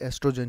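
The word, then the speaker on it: oestrogen: इसका spelling O से शुरू होता है। लेकिन इसको बोलते एस्ट्रोजन ही है।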